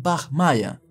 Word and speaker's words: Bachmeier: y vida de Marian Bach Maya Así es como se pronuncia en alemán que Marian Bach Mayer